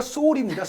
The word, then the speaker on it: Sol: 쇼울이 아니라 소울입니다.